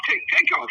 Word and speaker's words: Takeoff: Takeoff, yeah.